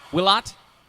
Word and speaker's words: Willott: can guess what its nickname is uh willett let me make sure i'm pronouncing that right willot willat thank you very much i apologize